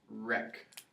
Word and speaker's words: wreck: Rec. Spell rec. WRECK. What letter is silent that we're going to cross out? The W.